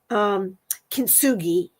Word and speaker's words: kintsugi: And so that's where this Japanese phrase, I got to look it up again because I hate saying it wrong, kintsugi, KINTSUGI, and it means join with gold.